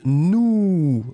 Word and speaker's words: nous: Et le deuxième, eh bien, c'était nous, hein, qui est beaucoup plus rond. Le S final n'est pas prononcé.